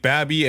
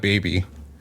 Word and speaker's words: BABii: And yeah, apparently it's pronounced Babby, not baby.